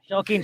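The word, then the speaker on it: Shokeen: Ritik is spelled as Ritik Roshan. see Huh? Shaukin.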